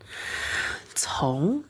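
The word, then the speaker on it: 从: Tapi bacanya bukan c, tapi ada haknya cong. Cong, nada kedua.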